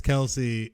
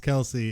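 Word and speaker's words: Kelce: not know uh travis kelsey his last name is not pronounced kelsey it's just kels what yes but he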